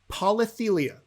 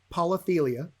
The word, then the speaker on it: polythelia: here's question number three okay okay it's about polytheia polythelia i will spell that for you yes p o l y